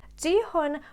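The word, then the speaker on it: Gi-hun: being played out by the main character called ji hun am i pronouncing it right yes jihoon was very desperate broke as hell as we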